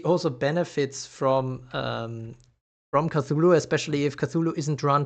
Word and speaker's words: Cthulhu: uh yeah yeah cthulu I think it should be cthulu I actually looked that up before doing the review on cthulu because I was also confused on how to pronounce that name um and I'm always saying culu is Chu or something ch ch but it's not ch ch well let's see if